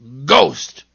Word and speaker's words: ghost: And I know of one word where H is silent in the middle. Ghost.